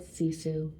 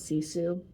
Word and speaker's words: sisu: Have you heard of the Finnish word sisu? It's spelled S-I-S-U, and it's a Finnish word with